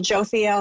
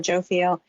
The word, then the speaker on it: Jophiel: Last show we had a beautiful visitation by Archangel Jophiel or Iophiel, depending on the tradition and how you might pronounce that, but I call her Jophiel.